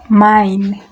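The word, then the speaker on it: mein: Mine. Mine. In English is mine. Please take note of the pronunciation. This is German, not English, so it's mine.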